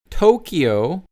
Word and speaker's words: Tokyo: Then we have Tokyo, which many Koreans pronounce like a D, but in English you have to say it as a T.